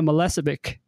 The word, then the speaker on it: Milicevic: I'm very excited to have today's guest Melissa Vic how did I do in pronouncing your name you did very well Adam